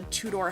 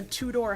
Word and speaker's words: Tudor: The Sims before, and I hope I'm saying that the right way because I keep saying two-door. Two-door. And somebody's probably like, Nat, it's actually pronounced, Tudor? Tudor? You're putting too much emphasis on the R at the end.